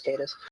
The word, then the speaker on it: Catiz: beginning with Empress uh ctis ktis cadis cadis yeah according to the scope video it's cadis oh yeah because we